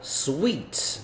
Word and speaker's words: suite: forklift 这个叫什么堆高机啦，不是起重机哈。那 bulldozer 是这个推土机，所以这边感觉就是在 construction site 哦，没问题，这个是在建筑工地才会有的。第 L suite OK，这是一个套房它的发音很奇怪啊，就是跟甜是一样的。Suite front desk reservation room service，这个没错，就是旅馆了，旅馆应该就会有的。Speed limit